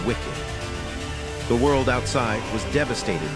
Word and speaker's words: WCKD: They are part of an experiment run by an organization called WCKD, pronounced wicked.